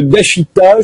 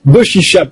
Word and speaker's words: Doshisha: Tarek Ramadan, vous êtes islamologue, professeur d'études islamiques contemporaines à l'université d'Oxford, attaché à l'université de Dashita, je l'ai bien prononcé, Doshisha, à Kyoto au Japon.